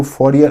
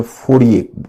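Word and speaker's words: Fourier: फ फरियर यह है इसको फरियर अंग्रेजी में बोलते हिंदी में फय बोलते हैं फ प्रोनाउंस होता है फ चार्स फय और रॉबर्ट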